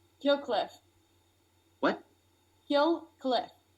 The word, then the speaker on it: Kill Cliff: Kill Cliff. How do you spell that? Kill. L like kill, and then CLIFF. I thought you said Hillcliff.